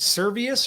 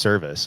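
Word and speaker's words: Servais: Is it Servius or Service? I think it's pronounced Service, I'm pretty sure.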